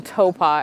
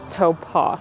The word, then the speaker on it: Taupō: know for sure that the T sound in New Zealand words is supposed to be pronounced toe and then when I